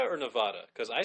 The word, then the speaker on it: Nevada: yeah Nevada it's in Nevada yeah I'm sorry Nevada or Nevada cuz I say Nevada some people say Tibet I saw I said